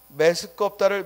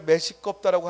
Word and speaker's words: 메스껍다: 메스껍다를 메시껍다라고 하면 안 돼.